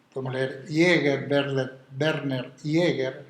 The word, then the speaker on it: Jaeger: él y otros, y podemos leer Jäger, Werner Jäger, Jaeger se escribe, etcétera, y otros, donde se habla cómo